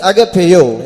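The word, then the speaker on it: ἀγαπάω: And for that word love in the Greek tongue it means agapeo. இங்கிலீஷ்ல AGAPAO, அதுதான் அதனுடைய உச்சரிப்பு.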